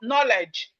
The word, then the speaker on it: knowledge: long words, example, DGE, now you can see in long words like knowledge. Knowledge. When you see it in longer words, don't separate it, don't divide it. Call them as one sound.